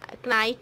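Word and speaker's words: knight: Bishop, C इज किंग, डी इज नाइट, नाइट जिसे कहते हो आप, के is silent and ई is minister.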